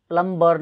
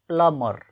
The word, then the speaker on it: plumber: त्यसै गरी यो मान्छेले धाराको पानी धाराको पाइप सम्बन्धी कार्यहरू गर्छ, यो मान्छेलाई के भन्ने त PLUMBER प्लम्बर भन्ने गरिएको छ नेपालीमा, तर यसको सही उच्चारण प्लम्बर नभएर प्लमर, त्यो ब साइलेन्ट हुन्छ यो बी साइलेन्ट हुन्छ, प्लमर प्लमर भन्नु पऱ्यो है त.